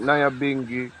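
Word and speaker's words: Nyabinghi: Tribe saying, why was she named Naya Bingi?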